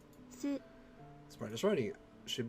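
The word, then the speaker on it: す: You pronounce this one as so. Or su. Su.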